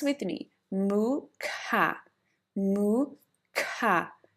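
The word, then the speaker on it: Mukha: So here it will be mooa mooa but it's a very short moo not a very long moo. It's a short moo and the coughing ca. So pronounce with me mooca. Moo ka mooca.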